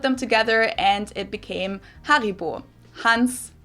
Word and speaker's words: Haribo: harryo is actually German we pronounce it Haribo Haribo and again the name